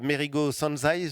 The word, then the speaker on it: Mérigot Sanzay: créé un atelier de tissage, l'atelier de tissage Merigo Sanzai, je le prononce bien.